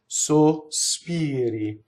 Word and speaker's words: sospiri: So in spoken Italian, you can put S on the first syllable. Sospiri. When sung Italian, if you have 3 notes for this word, the first word to sing it cleanly has to be all O, no S.